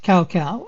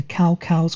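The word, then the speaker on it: Cao Cao: cow okay now about cow cow now the pronunciation of his name seems to change with every game i'm just going to go with cow cow because my cantonese pronunciation is horrendous so now cow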